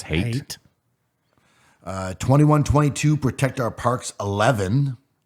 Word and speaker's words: Haidt: 2021, Jonathan Haidt. I'm saying it wrong, aren't I? No, I think it's hate.